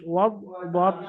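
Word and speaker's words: وَالضُّحَىٰ: ওয়াদ, ওয়াও দদ পেশ, ওয়াদ দদ পেশ দো, ওয়াদ দো, হা খারা যাবার হা। হা ইয়া খারা যাবার বলবেন না, কারণ ইয়ার উপর সাকিন নেই। ইয়ার উপর সাকিন হলে ওয়াদ দো হাই হতো।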